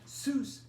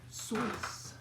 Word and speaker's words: Seuss: theodore seuss geizel but zeus isn't even the original pronunciation it's dr soyuz rhymes with voice apparently as german yes